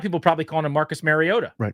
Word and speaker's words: Mariota: What what he is bothered by is Mariota, not Mario.